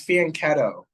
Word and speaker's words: fianchetto: with E6 okay but it's fien ketto it's not me I'm just reading what chat wrote the GP wrote but the CH is just pronounced C I'll let the salt